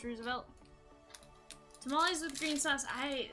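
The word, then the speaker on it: RSVLTS: I think is actually the company but it's pronounced Roosevelt tamales with green sauce I no I I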